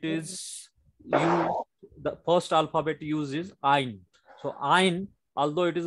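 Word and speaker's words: עין: Ein is a silent letter.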